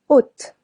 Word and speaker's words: haute: Haute. Silent H. Silent T if it's masculine.